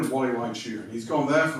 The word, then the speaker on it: Gualeguaychú: He's gone one weekend to a place called Gualeguaychú, and that's spelled with a G. And I think it's one of the most beautiful names of a place I've ever heard. So I'll say it again, Gualeguaychú.